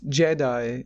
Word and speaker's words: Giedi: Is it pronounced Jedi? It's Jedi, yeah.